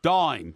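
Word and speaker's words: Daim: Oh, by the way, it says, please tell Porky that the chocolate dame he's talking about is produced dime, not dame.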